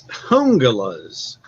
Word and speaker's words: Jungalas: The only one I've got is it's Hungalas. But it looks like it's spelled like Jungalas.